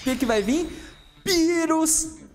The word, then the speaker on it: Beerus: Beerus! 5 de custo, o Beerus de 15 mil. O Beerus, Beerus, porque o japonês não pronuncia o L direito, né? Aí fala com R, é tipo cebolinha.